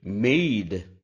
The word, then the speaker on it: made: Whether it is MADE or MAID, both have to be pronounced in the same way, made.